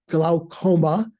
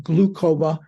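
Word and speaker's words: glaucoma: to the opthalmologist for my gloma who sister Diana helped me pronounce correctly I was saying glucoma my when I when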